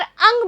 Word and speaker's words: अं: लगाई जाती है और इसका उच्चारण हम करते हैं नाक के द्वारा। और बच्चों इसमें न की ध्वनि हमें स्पष्ट सुनाई देती है।